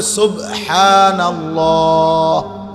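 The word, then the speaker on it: سبحان الله: শব্দ তো হল সুবহানাল্লাহ। আল্লাহ এইটা কইরহা উচ্চারণ তো হয় নাই বাত কলকলা হয় নাই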